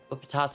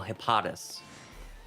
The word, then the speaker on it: Hippopotas: Hippopotas, who I refuse to call Hippotus.